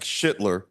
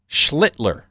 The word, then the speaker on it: Schlittler: not every day you see a kid like Schlittler. I did pronounce that correct, right? No. How do you pronounce Close. Schlittler.